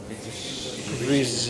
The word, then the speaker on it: vision: It is vision. Pronounce this word right, Aparna. Just wait there. Keep standing. Vision. Yeah. You know, like you say, shh. Similarly, it is vision.